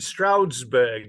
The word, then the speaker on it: Stroudsburg: So you're in, how do you pronounce it? Stroudsburg, is it?